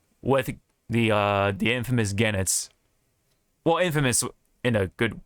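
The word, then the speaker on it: Goenitz: the uh the infamous genits well Infamous in a good way because he's a bad guy but yeah um again it's the G the O is silent as I learned after some sometime after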